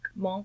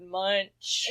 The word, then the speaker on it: Munch: Monk. Yes. Monk. I didn't know it was pronounced that way. We've all been pronouncing it wrong, America. Well, we were all like Edvard Munch.